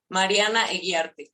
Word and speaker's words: Mariana: it the correct way so I'm gonna put the the of Spanish so it will be Mariana there we go yeah and